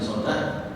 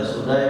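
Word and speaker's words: Sudayy: ajlan ya namanya ada yang bacanya sudai ada baca sodat Tapi kalau saya baca sudai bin ajlan albahid itu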